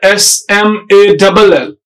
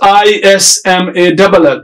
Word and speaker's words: small: The initial sound is S. Small. But you will see people, they never pronounce it as small there. They pronounce it as small. as if it is ISMALL. Is small, that's wrong.